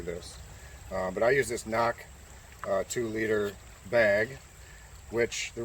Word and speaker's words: CNOC: original sawyer squeeze and a knock bag spelled cnoc i believe i'm pronouncing that right we're going to show